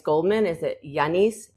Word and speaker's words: Yannis: So Janice, before I even start, is it just Yianis Goldman? Is it Yianice? Jiannis, like how do you pronounce it? So my name is Janice, born, which is very French.